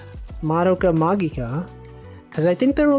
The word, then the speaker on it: Madoka Magica: But I remember that's when I learned it was pronounced Madoka Magica, because I think there were like a bunch